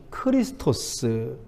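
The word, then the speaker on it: χρηστός: 근데 크레스토스라고 하니까 발음이 뭐냐면 크리스토스. 그리스도와 너무 흡사해요.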